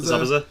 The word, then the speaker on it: Zabuza: Zabuza, yeah.